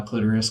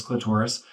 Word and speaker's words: clitoris: um or clitoris um there's multiple ways to pronounce it uh clitoris clitorus um and it's uh